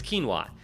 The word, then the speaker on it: quinoa: Quinoa? I don't know how you pronounce it. Quinoa. That's right, it's quinoa.